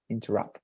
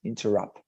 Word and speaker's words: interrupt: their appear interrupt and the pronunciation would be something like in their wrapped interrupt like this interrupt pronounce it please interrupt